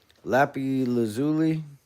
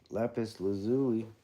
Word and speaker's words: lapis lazuli: Not it's not spelled like that. Lapy lazuli. Lapis lazuli.